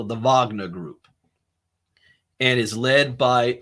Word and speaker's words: Wagner: military to some group called The Wagner group it's spelled Wagner but they call it the Wagner group and is led by another Russian billionaire